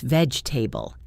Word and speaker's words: vegetable: Vegetable becomes veg-ta-ble.